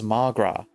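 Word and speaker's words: mo ghrá: Come on, Mulgra. Irish for my love. One day I like to pronounce it as Magra.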